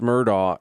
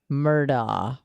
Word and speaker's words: Murdaugh: that's weird Alex murder it's Alex Murdoch and literally everybody says Alec Alec murder yeah well they call